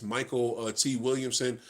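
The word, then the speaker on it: Mykelti Williamson: It's got I think you say his name like this, Michael T. Williamson. Because I can never pronounce his first name. I'm pretty sure that's how you say it.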